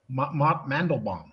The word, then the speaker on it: Mandelbaum: Mandelbaum. Pronounce my fucking name right.